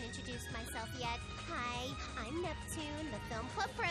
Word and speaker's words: Neptune: myself yet hi I'm Neptune the film club president NEP oh my gosh the throwback she still can't pronounce it neptuna oh my gosh the